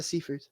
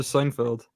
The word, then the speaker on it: Seyfried: Yeah, Amanda Seyfried. Thanks for teaching me, Jack. How do you say her name? I never knew. I always said Oh, I okay. always just called her Amanda Seinfeld.